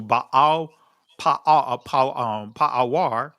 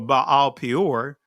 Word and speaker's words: Baal Peor: And Israel joined himself into Baal Pa'awar, or that's the ancient pronunciation of it, but Baal Peor, and the anger of Yahweh was kindled against Israel.